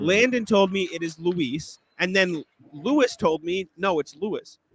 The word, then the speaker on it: Luis: Landon told me it is Luis, and then Lewis told me no, it's Lewis,